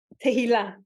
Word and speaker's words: Tehilla: That's as close as someone who doesn't speak Hebrew pronounces it. What's your name? Tehillah.